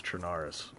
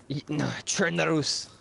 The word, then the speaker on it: Chernarus: Edward, But at first, your this was- your dad doesn't even know how to pronounce Chernaris. Chernarus.